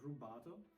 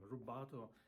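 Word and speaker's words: rubato: And then you got rato. Rato means flexible time. Rato in Italian, rub means to uh this is a hand gesture means to steal.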